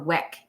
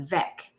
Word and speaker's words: Weck: Is it pronounced Vec jars or Weck jars? Like with a V, Vec.